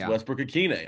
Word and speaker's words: Westbrook-Ikhine: I said, Kayla, you got to spread it around to the media folks that it's Westbrook-Ikhine. I keep hearing Ikhine, and I close my fists in a ball of rage. Yeah, it's like that Arthur meme.